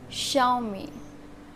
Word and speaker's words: Xiaomi: Xiaomi, you can think because of its spelling, but it's wrong. The correct pronunciation of this is Xiaomi.